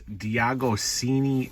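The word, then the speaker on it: De Agostini: not 100% sure but this is Diago cini Collectibles I believe that's how you say it it's like the Italian name or something something like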